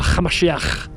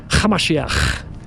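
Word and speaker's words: המשיח: followers call them Yeshua Hamashiach, with a ch sound. You have to add a little bit of a throaty little ch. Hamashiach. That's Aramaic. That's what it sounds like, folks.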